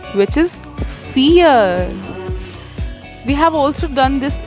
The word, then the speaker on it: vier: Next is 4, which is Vier. We have also done this in our last video that V is pronounced as F. So it's Vier.